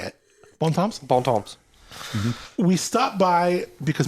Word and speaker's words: Bon Temps: Bon Temps.